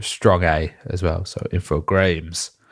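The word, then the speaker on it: Infogrames: video on YouTube with the apparent official French pronunciation because you know they a French company have a listen infog so apparently that is how you officially say it um I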